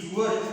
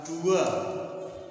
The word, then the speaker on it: tour: और वो टूर भी कर सकता है, ही टूर around the world, he टूर around the world, चक्कर लगाना। तो टूर इसका प्रोनाउंसिएशन होता है टू, इसको TOUR, इसका उच्चारण होता है टूअर, इसका उच्चारण होता है टूअर।